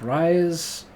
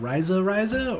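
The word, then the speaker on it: Reise: The next video, we're going to be talking about Rise, is it Ryza, or Rise? I think it's Ryza, because it's kind of how he pronounces it in the song.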